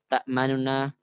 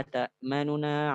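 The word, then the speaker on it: تأمنا: Membacanya dengan cepat pada nun yang pertama, manuna. Dan yang nunnya itu nu. Jadi bacanya bukan manuna tapi manuna. Malaka la ta'manuna ala Yusuf. Manuna ala Yusuf. Para ulama menghitungnya itu untuk ikhtilas sendiri 2/3. 2/3 dari harokat. Tinggal bacanya bukan malaka la ta'manuna, tapi agak dicepetin sedikit.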